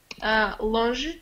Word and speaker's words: longe: longe, far.